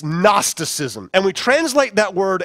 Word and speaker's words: gnosticism: how you pronounce it the g is silent it's gnosticism and we translate that